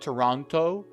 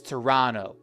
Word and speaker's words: Toronto: Number four, you can find Toronto. Toronto. That's how Canadians/ameans pronounce it. They don't really voice the T. It's not Toronto. It's Toronto. Toronto.